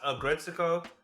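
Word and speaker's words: Aggretsuko: Agretsuko or Agret, how do you pronounce that? Oh, Agretsuko season 5. It's pronounced Agretsuko.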